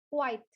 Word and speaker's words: quite: Kalau dia artinya itu cukup atau lumayan, pelafalannya atau pronunciation-nya itu adalah quite. Quite. Yang terdengar di akhir itu adalah T. Dia cepat quite.